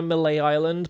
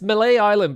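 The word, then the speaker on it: Mêlée Island: Yeah, it's Malay Island, but you you pronounce it Mele, I'm pretty sure.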